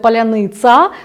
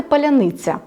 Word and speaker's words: паляниця: ще пов'язано з артикуляцією в російській мові немає м'якого звука ц Тому їм вимовити їх артикуляційний апарат сигналів з мозку не не надходить так і тому вони скажуть залізний цар вони скажуть паляниця тобто у них вони